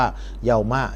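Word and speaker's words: يَوْمَ: ระยะ เวลา นะ ครับ แล้ว ก็ อ่าน ว่า เยาวมะ นะ ไม่ อ่าน ว่า มู่ ไม่ อ่าน ว่า มี่ นะ ครับ อ่าน ว่า เยาวม่า เพราะ มัน เป็น ซอฟุซามาน นะ ครับ จะ อ่าน เป็น สระ ฟัตฮะห์ เสมอ ไป นะ ตุบลา ตุบลา นะ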